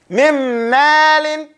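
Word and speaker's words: مِن مَّالٍ: You go completely to the meme. You say mim, close it. Mim ma, mim malin. You go straight to the meme. Mim malin. The noon is not pronounced.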